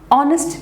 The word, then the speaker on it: honest: So it is correct to say an hour, an honest girl, an MA degree, because hour begins with the sound, honest begins with the o sound, and MA begins with the air sound.